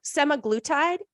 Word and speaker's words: semaglutide: me if I butcher it but it's some semi-glue tied is that how you say it I'm a